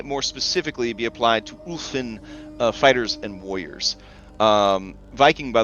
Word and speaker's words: Ulfin: All right, the Ulfin, pronounced Ulfin, are human ethnicity once feared along Avastan's coastlines for their fierce and merciless raidings they conducted in their longboats.